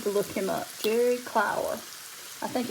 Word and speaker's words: Clower: Or Clower, I guess. We pronounce it just Clower.